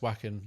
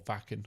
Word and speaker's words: Wacken: Not a lot of battle jacket chat so far, but yeah, I got invited to Wacken last year, or Wacken, I should say, Yeah.